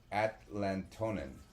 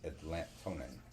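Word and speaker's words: Atlatonan: Now, Atlatonin it's spelled a t l a t o n a n Atlat- onin. Sounds a lot like Atlantean.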